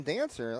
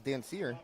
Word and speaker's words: Dancer: They call him Dancer. I thought it was Dancier, just the way it's spelled.